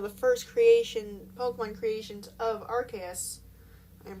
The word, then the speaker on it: Arceus: Mew was basically one of the first Pokemon creations of Arceus. I'm pronouncing it Arceus.